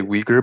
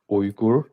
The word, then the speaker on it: Uyghur: the actual pronunciation is oyuguru um there's like a like i don't know how to say it in english but there is a bit of a oomph at the beginning so and it's kind